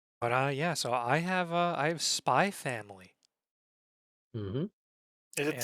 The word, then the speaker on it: Spy x Family: But yeah, so I have Spy Family. Mm-hmm. Is it And Spy Family or Spy X Family?